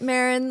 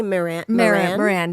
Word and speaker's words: Maran: And you say it Marin like Sharon or Karen. But anyways, um I don't mind if you spell say it wrong. I had some people say Moran.